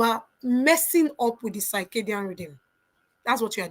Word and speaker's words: circadian: I hope I'm pronouncing it for you. Is CI. Let me put it in the chat. C I R C A D I A N.